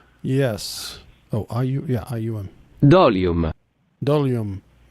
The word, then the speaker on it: dolium: Sounds like volume, but it's dolium. No. Dolium. Yes. Okay. The, Dolium.